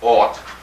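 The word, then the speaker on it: אות: It's spelled A-F-T, pronounced ought.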